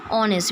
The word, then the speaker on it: honest: Okay, the H over here is silent. You just read these words, right? honest.